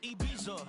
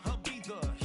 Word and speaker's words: Ibiza: Ibiza, yeah, it's pronounced Ibiza, actually. Yeah. What's the difference there? Ibiza, Ibiza, you won't see me in neither.